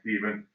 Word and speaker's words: Stephen: The next year, his son Stephen, remember that PH that's still pronounced Stephen, who clearly had better hair than his dad.